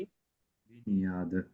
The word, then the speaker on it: baignade: इसको ध्यान से प्रोनाउंसिएशन सुन लीजिए इसकी। baignade, बुनियाद, baignade, बुनियाद।